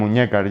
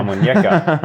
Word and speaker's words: Almuñécar: I heard someone call you the Lion of Almuñécar, or how I pronounce that terribly. Almuñécar, yeah. Almuñécar.